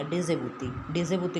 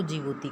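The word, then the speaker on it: Djibouti: Eritrea, Ethiopia, Somalia, डिजेबूती लिखते हैं डी से इसको, लेकिन डी क्या है? साइलेंट है, इसलिए इसको जिबूती कहते हैं।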